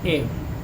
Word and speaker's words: ewe: एव, EWE, एव, ए हमें लगाना है क्योंकि इसका उच्चारण जो है वो य होता है।